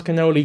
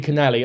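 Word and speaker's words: cannoli: If you're a food reviewer and you pronounce canoli canali, I know not to trust you.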